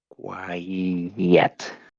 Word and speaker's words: quiet: And the thing that you put in the middle is you just repeat the final sound of the first syllable, which is E here. Quiet.